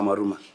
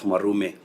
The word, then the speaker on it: Mwaruma: Maybe before the Majority Leader, Chair, my name has been mispronounced. it is Senator Mwaruma and the Committee of Education who went to Kericho. Senator Mwaruma, not Mwarume. Yes, Senator Mwaruma, for avoidance of doubt.